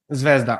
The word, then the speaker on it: Zvezda: Zvezda.